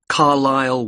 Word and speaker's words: Carlisle: 45 Carlisle Way. Could you spell Carlisle for me? Sorry. It's C A R L I S L E. You don't pronounce the S.